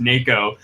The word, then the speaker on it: NACHO: of Houma file organizations so nacho spelled out what pronounced nako and he did not